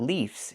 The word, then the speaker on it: leaves: But the plural form is not leaves. It's leaves. We use the letter V and pronounce it VV VV plus the S making a Z sound like in zebra.